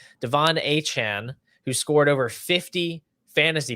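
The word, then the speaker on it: De'Von Achane: player whose name continues to change apparently it's Devon a Chan now according to him he he came out and said that it's pronounced that way so I guess that's what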